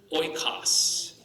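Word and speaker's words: οἶκος: It'd be oil, like oi. Oi. Oikos. The word oikos means house. Okay? Oi, like oil.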